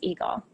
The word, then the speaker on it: EGLE: lakes and energy better known by its acronym pronounced eagle we are here to